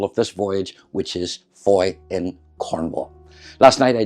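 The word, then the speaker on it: Fowey: I may get a little bit of the cast show And then again tomorrow in Foy, F-O-W-E-Y it's spelled.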